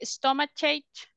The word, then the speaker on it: stomachache: that is ending in this, we say k, not ch, okay? Headache, no, headache. Stomachache, no, stomachache. Toothache, earache, backache. Okay, so it is always like a k sound.